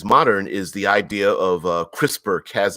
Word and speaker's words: CRISPR: okay all right CRISPR CRI SPR is an acronym everyone pronounces it CRISPR which stands for a